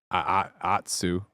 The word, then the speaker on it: Atsu: Atsu. Did I say it right there? Atsu.